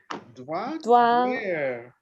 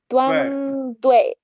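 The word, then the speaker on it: द्वन्द्वे: Dwandware. No, more. It's not easy. I always say like Dwandwai. Dwandwai. It's like an A and E.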